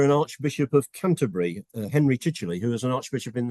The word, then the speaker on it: Chichele: But the Chichele bit causes people lots of problems because it's spelt Chichel. And when they come to look at it, they have difficulty actually knowing to put a Y on the end of it.